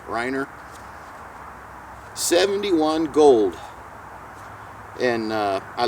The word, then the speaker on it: Reiner: buddy and it's uh I guess it's pronounced Riner it's a German company that I know of I'd have to ask my wife my wife speaks a little bit of German and she always corrects me on how I pronounce stuff re e i n e r Riner 71 gold and uh